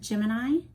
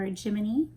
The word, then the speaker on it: Gemini: the even width of Gemini or jiminey depending on how you wish to pronounce it with the Apollo missions